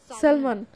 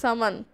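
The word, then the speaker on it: salmon: নির্মা থরথর করে কাঁপতে কাঁপতে বলে, সালমান। আর্টিস্ট বলে, সামান। এই শব্দে এল সাইলেন্ট থাকবে।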